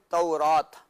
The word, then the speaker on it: تورات: آیات ہے اس میں لفظ ہے تورات، صحیح، تو را پر زبر ہے، تو یہ عربی